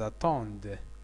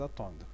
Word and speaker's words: attendent: vous attendez, Z, ils attendent, ENT, ENT, l'attendaco, filoracile farancia, de matakuno, fi, damir, il. On ne prononce pas ENT à la fin de la troisième personne du pluriel, il avec S ou bien elle avec S.